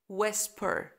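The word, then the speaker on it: whisper: وف و و طبعا دبليو جنب اتش في الغالب الاش هتبقى سنت فنقول و ويسبر ويسبر يبقى في كلمه ويل وفي كلمه ويسبر الايتش سايلنت اوكي وطبعا الحروف الكلمات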